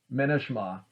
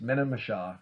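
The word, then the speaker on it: Menemsha: you can go to Minishma. I think it's Minimisha, I think is how you pronounce it, which is the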